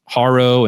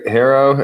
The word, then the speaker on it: HARO: I've always called this service HARO and other people called it HERO. So, I guess we'll just use the term interchangeably, but because of the way the founder, Peter Shankman, pronounces it, that's where you've decided to land. Is that right? That's right. HERO, and I might have